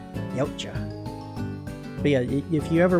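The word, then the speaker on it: Yautja: their official name is the yaa I think I'm pronouncing that right it's uh y a u t j a yaa but yeah if you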